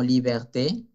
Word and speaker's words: liberté: Para pronunciar la E al final como liberté. Ok, liberté sí se pronuncia porque si tenemos una